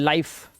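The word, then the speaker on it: life: bite, लाइक, nice, time, वाइफ, size, अब इसे लिफे नहीं पढ़ना है, लाइफ, फिने नहीं, गलत, फाइन, और लास्ट वाला ई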